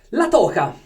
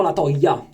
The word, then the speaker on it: La Toja: Continuiamo la nostra avanscoperta con i prodotti del banco spagnoli e oggi vi voglio portare la toca. La toca, no la toia, perché in spagnolo la J si pronuncia H, la J.